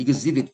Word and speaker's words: exhibit: exhibit이라고 읽으면 안 됩니다. 따라해 보세요. exhibit. 오케이. Exibit 이렇게 읽어야 돼요.